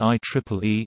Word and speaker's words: IEEE: fields that it is simply referred to by the letters ie pronounced I Triple E except on legal business